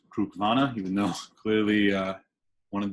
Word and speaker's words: Cruach-Mhona: of info on this whisky itself fruit vana pronounced Krug Lana even know clearly one of those much like